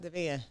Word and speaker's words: Devan: Yep, Devan. I got it right. I definitely said that. I be like Devan. Devan. Spell it. It sounds just how it was spelled.